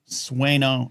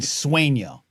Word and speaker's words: Sueño: Um She's going How's your pronunciation coming? How's it coming? Sueño Americano. I got better. Okay. Sueño.